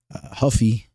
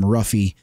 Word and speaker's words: Ruffy: on Jamie Malarkey Huffy you know I desperately want to call him ruffy but uh we can't do that you guys are always giving me hell about my pronunciation so I got to put that Brazilian uh that Portuguese kind of accent on it Macio Huffy